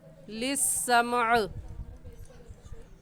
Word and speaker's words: للسمع: کیسے وقف کرنا ہے۔ للسمع، مقاعد للسمع، میم کو بھی ساکن پڑھیں گے اور عین کو بھی للسمعی، ایسے وقف نہیں کریں گے۔ وَأَنَّا كُنَّا